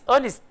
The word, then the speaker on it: honest: car is fast honey honest honest this is silent we do not pronounce we say honest honest honest you can